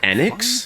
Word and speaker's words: Square Enix: Is it really pronounced Square Enix? Fairy HD. I feel like I keep hearing it pronounced Square Enix. I'm just I'm not going to do that. It's Enix. I don't care what you say. It's Enix.